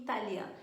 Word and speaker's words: italien: Então, esse som de EN para nós vai corresponder aproximado ao un no português. Então, lentement, comprend e italien.